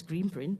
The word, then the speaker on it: G-Print: Um the the green print, it's called G-print, but it's actually pronounced as green print.